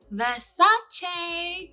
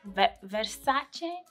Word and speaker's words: Versace: Versace Dylan Blue. Okay, these debates about how to pronounce it. Donatella says Versace. Versace? I mean, it's Italian. That's how they say it. But people just say Versace.